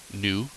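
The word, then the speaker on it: ν: clearly that would be new and this is pronounced new and that's the same thing for frequency lambda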